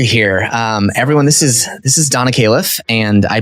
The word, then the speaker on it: Khalife: Although it's butchering its original pronunciation as it may be. It's originally an Arabic. I'm originally from Lebanon. Mm-hmm. So I've kind of just gotten however you pronounce my name is cool, but it does have the word life in it.